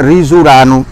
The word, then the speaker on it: risolano: Sa scrivo risolano e sa pronuncia risurano.